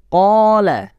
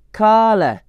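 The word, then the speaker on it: قال: Qala, qul, bukan kala, pakai nafas, tapi nafasnya ditahan di dalam. Qala, qul.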